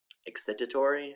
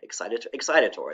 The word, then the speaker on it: excitatory: Right now I can't pronounce this word. A signal that excites the neuron, excitatory, excitatory.